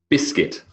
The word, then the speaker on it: biscuit: We don't pronounce the I did the silent P, and then biscuit, silent U.